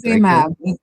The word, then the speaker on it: Aimable: Aimab. It's French. Aimab-. Oh, Eva? No, Aimab-. Aimab is French because Saint Lucia was 7 times British, 7 times French.